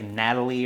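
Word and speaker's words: Nathalie: Uh her uh she's played by um uh it it's spelled with an H, but it's like Natalie or Natalie Emanuel.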